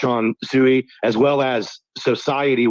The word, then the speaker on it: Xociety: So that's one to watch on Sui, as well as Society, which is spelled XOCIETY. Society.